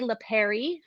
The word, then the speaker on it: Lapari: First up, we have Clay Lapari, rhymes with Mary, which is his daughter's name, which I learned.